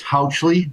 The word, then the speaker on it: Housley: It's Housley, like couch.